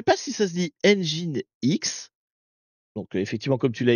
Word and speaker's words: nginx: On a un serveur web sur le port 80 qui s'avère être un Nginx. Alors moi je dis toujours Nginx, mais c'est pas comme ça qu'il faudrait prononcer, c'est Nginx, c'est ça?